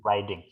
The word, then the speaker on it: riding: Bukan reading ya, kalau reading membaca, ini bacanya riding.